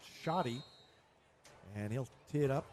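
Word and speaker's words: Schade: So, Republic gets the ball first and it will be Tanner Shotty to kick it off. Shotty, spelled S C H A D E, but pronounced Shotty.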